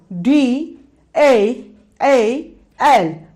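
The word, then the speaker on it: ڈ: Dal, D, A, L, Dal. Then Dal, Dal, Dal. Here you pronunciate the sound of D heavily.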